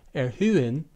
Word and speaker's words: erhöhen: In the word erhöhen, meaning heighten, spelled E-R-H-O-umlaut-H-E-N, the second H is mute for most speakers outside of Switzerland.